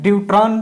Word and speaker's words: ड्यूट्रॉन: इसे प्रोनाउंस बेटा कैसे करते हैं? ड्यूट्रॉन प्रोनाउंस करते हैं।